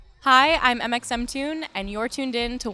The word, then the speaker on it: mxmtoon: hi i'm mxemtune and you're tuned in to ones to watch you pronounce mxm tune like that i am mxm tune it's really kind of